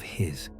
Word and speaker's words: His: The impulse enters a structure called the bundle of His, pronounced like the word hiss.